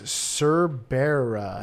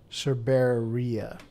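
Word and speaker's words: cerberea: Yeah, I think you need to pronounce the E. Hadroniche. Yeah. And the species is Cerbera. Hadroniche Cerbera. Cerberia, actually.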